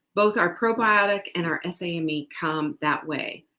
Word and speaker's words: SAMe: Both our probiotic and our SAMe come that way. SAMI is another way to pronounce it.